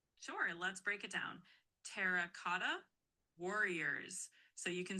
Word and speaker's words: Terracotta Warriors: It's Terracotta Warriors.